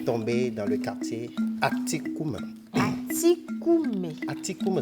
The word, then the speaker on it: Atikoumé: On va partir à Atikoumé à présent.